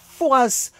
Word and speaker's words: Fouras: Il sera nommé le père Fouras en référence à la ville de Foura, sur la côte dont on ne prononce pas le S.